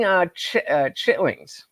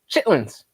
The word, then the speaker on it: chitlins: Richard said it's like eating chitlings. Is that how you say that? I've never seen it spelled like that. Chitlins.